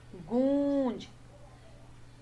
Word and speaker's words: गूंज: जैसे अभी ये गूंज, तो बड़े ओ की मात्रा आ रही है इसमें, क्योंकि इस ओ को एक लंबा बोला जा रहा है, गूंज।